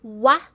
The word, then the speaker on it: ua: UA is pronounced as wa. It sounds like UA as in suave or WAH. Wa.